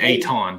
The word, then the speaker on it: Ayton: great during this postseason i never can say his name right the big man i want to say deandre ayden i always want to say ayton but it's eight he's really starting to